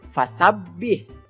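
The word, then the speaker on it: فسبح: wabah Hai cara membacanya fasabbih disitu ada huruf ba berharakat tasydid jadi banyaknya harus ditahan dulu kemudian hak sukun haknya ha kecil ya bukan hal besar jadi Hanya seperti nafas saja biasa fasabbih Kemudian bihamdi hanya juga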